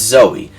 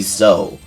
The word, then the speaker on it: Zoe: who played this and he kept calling zoe zou because he thought zoe was always spelt with a y on the end and as much as i loved that youtuber that's not the case like that is not the case at all and so there was something